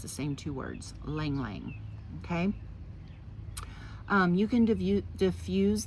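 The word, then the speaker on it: ylang-ylang: And ylang ylang, okay?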